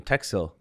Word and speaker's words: Teksill: I think it is a nice name, Teksill. 2 syllables, nice and quick.